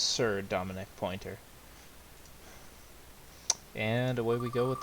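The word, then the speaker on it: Sir'Dominic Pointer: And it's pronounced Sir Dominic Pointer.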